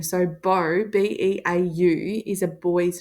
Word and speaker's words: Beau: pronounce that boy's name b-e-a-u Beau and it is the homophone of this word bow all right laptop's charging